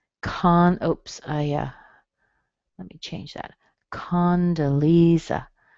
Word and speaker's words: Condoleezza: Condoleezza. Lee is where your strong part is. Condoleezza.